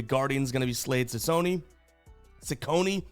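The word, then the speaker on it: Cecconi: Now on the bump here for the Guardians going to be Slade Cone Sakone. Still working on how to say his name. I want to say Chichone, but I think it's Sakonei. We should know by now.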